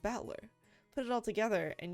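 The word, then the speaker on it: Battler: far the problem is my given name batler is made up of the characters for fight and person as pronounced batler put it all together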